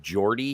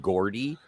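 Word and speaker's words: Geordi: said like he mispronounced he would instead of Jordy he would call him Gordy uh Forge like he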